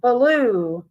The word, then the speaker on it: Baloo: go Tony got it blue I know that uh blue will make it is pronounced like that but yeah it's Baloo b-a-l-o-o either way though you